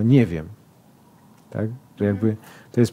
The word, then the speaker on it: nie wiem: Coś takiego jak w języku mówi pani akcent na jakiejś sylabie, a nie na innej. Tak? Czyli na przykład, nie wiem, nie wiem. Nie mówię nie wiem, tylko nie wiem.